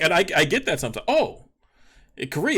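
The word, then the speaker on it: Kairi: i said i mean my name is probably meant to be pronounced kyrie right like kyrie irving but i don't pronounce it that way so don't tell me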